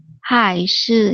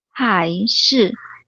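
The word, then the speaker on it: 还是: 是男孩还是女孩？ Okay, everything's perfect except 还是 is a second tone. So go back again. 是男孩还是女孩？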